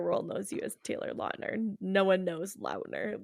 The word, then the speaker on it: Lautner: Wait, how do you pronounce his real last name? Lautner. Do you think that like mainstream media just gets it wrong too, because don't they call him Lautner?